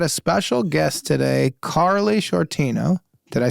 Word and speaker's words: Sciortino: I know, but I was nervous cuz I've always said it's I always do the SC, so the shortino seems insane to me.